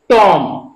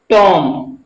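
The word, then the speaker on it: tomb: इसको हम क्या पढ़ेंगे टॉम यानी लास्ट में बी अगर एक साथ आता है बी तो हमेशा वहां पर भी साइलेंट राहत है बी का उच्चारण हम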